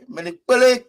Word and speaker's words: Menipele: Menipele K. Menipele, like story. So in Pele, when you say Menipele, it means a story.